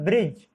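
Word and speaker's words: bridge: इसी तरह से बजट और ब्रिज दोनों में ही डी साइलेंट है, दोनों में ही डी साइलेंट लेटर प्रयोग किया गया है।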